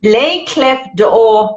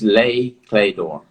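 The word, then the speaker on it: Les Clefs d'Or: pronounce this cliff let's lay clef door members did i say that right i'm not french yeah so the french it's lay clay door it's like they don't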